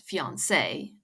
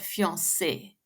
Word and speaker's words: fiancé: supposed to be pronounced fiance but fiance the last vowel sound is like English sit and not like English say secondly and more importantly